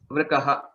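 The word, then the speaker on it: वृकः: Vrukaha. Right. What is it in English? Vrukaha is a fox. Not a fox. It's a wolf. Okay, sir. It's a wolf. Vrikaha. Vrikaha. Okay, that is the pronunciation.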